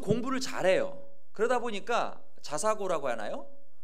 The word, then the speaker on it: 자사고: 공부를 잘해요 그러다 보니까 자사고고 하나요 예 발음 잘해야 돼 자살고 자사고 자사고 예 자리 평 살